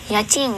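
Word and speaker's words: 家賃: Yachin.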